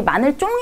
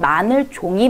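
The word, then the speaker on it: 마늘종: 표현 이고요 마늘 종이다 우리 마늘쫑 이라고 발음을 잘못하는 경우가 있어요 마늘 종이 맞는 발음입니다 자 전자렌지 우리 이렇게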